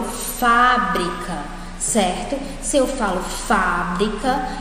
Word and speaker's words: fábrica: babá eo pa é a antepenúltima e ela é a mais forte eu falo fábrica certo se eu falo